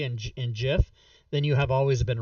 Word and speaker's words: GIF: graphic interchange format but you don't pronounce gif as gif you pronounce it jiff that's the that's the whole argument people that say it's gif are completely wrong how much time a